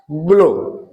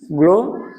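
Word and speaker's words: glow: है एल व्यंजन है तो जी के बाद अगर जो एल है व्यंजन आए तो हम जी का उच्चारण जो है ग से करते हैं ऐसे इसमें जो है जी के बाद आर है जी एल ओ डब्ल्यू ग्लो ग्लो यानी चमक इसमें भी जी के बाद एल आए हैं।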